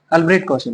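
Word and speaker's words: Albrecht Kossel: अल्ब्रेट कौशल है ना, CST silent है यहाँ पर।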